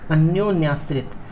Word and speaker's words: अन्योन्याश्रित: अन्योन्याश्रित, अन्यो पहले इतना देखते हैं, फिर इसके बाद न्याश्रित, अन्योन्याश्रित।